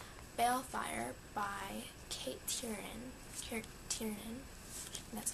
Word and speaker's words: Tiernan: used copy of bail Fire by Kate Turin Tiernan that's how you say it which seems interesting